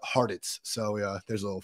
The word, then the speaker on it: Hartitz: But yes, I always say it's pronounced like Cheez-Its, but Hartitz.